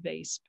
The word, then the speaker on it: Weesp: the dementia village in vase that's w-e-e-s-p but it's pronounced vase in the netherlands which